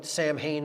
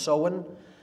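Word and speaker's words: Samhain: fall is seen pronounced seen it looks like Sam Hayne in English but it's pronounced soen uh in gaic and that is Halloween or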